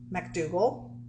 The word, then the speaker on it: McDougal: McDougal. Is it Mac or Mick? Mac.